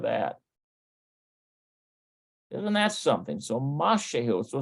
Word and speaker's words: משהו: Mashehu. משהו. Okay, mashehu. משהו. Do you know that that's the same word for yogurt if it's mishahu, but it's mashehu, which means something.